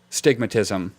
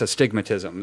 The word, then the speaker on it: astigmatism: part of the word it's not uh stigmatism it's astigmatism like that's one word it's like saying area